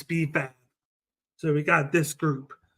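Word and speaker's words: B-Fab: didn't want to say it wrong but it's bab so we got this group they haven't broken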